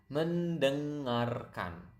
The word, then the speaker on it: mendengarkan: And then we have listen, which is quite long, mendengarkan. Mendeng. You can hear the nasal sound there. Deng, kind of sound like French.